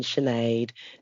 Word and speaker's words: Sinead: In which case, then I go down to my usual lines of there's no H in Siobhan, there's no H in Sinead, there's no H in Sade, and yet here we are.